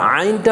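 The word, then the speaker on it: عين: number হচ্ছে আইন আইন আইনের উচ্চারণটা এই হলকের মধ্যখান থেকে কোন জায়গা থেকে হলকের মধ্যখান থেকে হলকের মধ্যখান মধ্যখান এই হলকের মধ্যখানে এখানে একটু প্রেসার দিতে হবে সেক্ষেত্রে উচ্চারণটা হবে আ কি হবে আইন আইন আইন আইন আইন তাহলে বলেন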